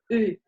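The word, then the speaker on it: eu: Avoir, por ejemplo, el participio pasado de avoir es U y se pronuncia U.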